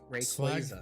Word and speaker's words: Rayquaza: Oh hey, also Pokemon just officially announced that it is pronounced Rayquaza.